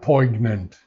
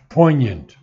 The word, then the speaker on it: poignant: Mystic poignant sword now the word poignant is pronounced not the G is never pronounced it's not poignant the G is never pronounced poignant now of her pangs